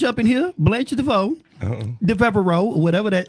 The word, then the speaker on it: Devereaux: Because Blanche up in here, Blanche DeVoe, Devereaux, or whatever that. How you say that? How you pronounce Devereaux? Devereaux.